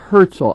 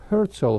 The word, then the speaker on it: Herzl: Herzl. I had said the name wrong. Franz Rosenzweig was cooperated with Buber on the writing of the translating of the scriptures into. It's Theodor Herzl who wrote the Judenstaat, the Jewish state, due